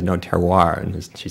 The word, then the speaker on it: terroir: So I think an important first step is to get rid of all that and pronounce it like good Americans do. So I say terroir, and most people I know say terroir.